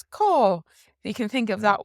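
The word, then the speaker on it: cá: So it has an A father here, and this A father makes an aw sound, AW, aw, because it's long. So caw. So definitely like how the bird says caw, you can think of that one, and that is where in Irish.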